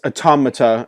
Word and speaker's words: Automata: oh one last thing it's automata as in the plural of otamatone and don't worry I've